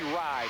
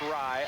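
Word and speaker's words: Wrye: 13 is Nancy Rye, W-R-Y-E, pronounced Rye, a 5'1 junior, Rye.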